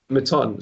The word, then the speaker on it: Mouton: Mouton. Sorry, I used to say mutton, and that was something that's not correct.